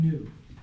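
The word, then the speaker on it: ν: pronounced in so epsilon new and maybe maybe it's uppercase but this is that's lowercase in the second letter is a new it's not V it looks like a V so okay so the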